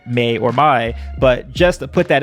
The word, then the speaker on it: Mai: not be pronounced as mei it's spelled m-a-i which is supposed to be my and people always you